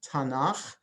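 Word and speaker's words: תנ״ך: to as tanach so the three letters there is an abbreviation uh pronounced tanaf and so when you say bible in hebrew you're saying tanach that's the jewish bible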